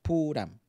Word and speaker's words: Pooram: thrissur every year on the Purim pronounced puram day by day when